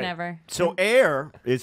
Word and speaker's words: Eyre: So Eyre is how you pronounce my last name.